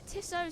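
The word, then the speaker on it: Tissot: Sprint the tiso Sprint we used to call it the tisot Sprint but then we found out that's not how you say it even though it sounded so right but apparently it was so wrong 14 laps to go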